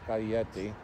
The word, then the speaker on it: Scaglietti: And I have been looking for a 612, and I finally found a Ferrari 612 that I, Scaglietti, as it's pronounced in Italy, one that I really wanted.